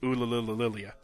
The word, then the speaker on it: Ulilillia: Oh, it actually is pronounced Ulilillia. Okay. I might not be getting enough Lililas in there, but yes, that's how it's pronounced.